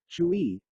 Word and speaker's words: Hui: Hui, pronounced like chui, with a forceful exhale, which is associated with the kidneys.